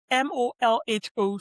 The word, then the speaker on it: molho: Spanish and Portuguese molhos, molho sauces. But if you hear the word molho being pronounced, it sounds very much like imoyo. It doesn't read the same, which, again, is really fascinating.